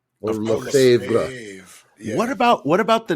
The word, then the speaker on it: Lefebvre: lot of French words, it has a lot more letters than it really needs to have, and a lot more letters than they pronounce.